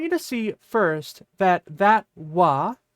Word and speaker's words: は: I want you to see first that wa is wa, and it's not ha. So usually when we have ha in the middle of a sentence, particularly if it's in the topic particle slot, it would be pronounced wa.